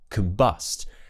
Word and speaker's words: combust: If it's an unstressed syllable, we'll use the schwa sound on that letter O. So it will be k, that's a schwa sound, relaxed mouth. Complain, continue, combine, combust.